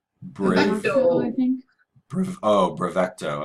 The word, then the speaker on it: Bravecto: Oh, Bravecto. I was trying to say brave and then CTO.